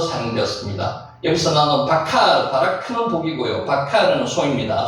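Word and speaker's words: בָּקָר: 실제로 여기에 점이 찍혀있는 게 있기 때문에 비읍이 된 발음이 납니다.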